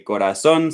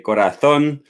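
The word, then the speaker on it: corazón: studies sometimes i say corazon sometimes i say korathon uh there's not really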